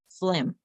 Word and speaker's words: phlegm: Note, the noun phlegm is pronounced phlegm, okay?